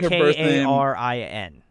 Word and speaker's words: Karin: So it's like K-A-R-I-N. Yeah, K-A-R-I-N. Okay. And yeah, basically, in Korean, it's pronounced like Karin.